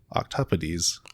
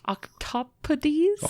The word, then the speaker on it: octopodes: And finally, octopodes. Octopodes? Also sometimes pronounced octopodes.